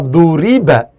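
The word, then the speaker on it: ضُرِبَ: Akan tetapi kalau dot ro'ba itu kemudian dibaca duriba, huruf awalnya di dhammah, harokat huruf sebelum akhirnya di kasroh, itu ya, maka ini disebut sebagai fi'il majhul.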